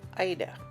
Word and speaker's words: Aida: First cloth we're starting with is Ada and some people pronounce it IDA.